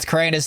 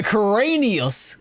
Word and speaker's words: Keraunios: I was calling it Cranis at the whole time because it's easier to say, but the Cranius is probably the right pronun pronunciation for it.